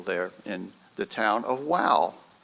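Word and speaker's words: Wau: in the town of Wow. Wow, W-A-U, but it's pronounced just wow.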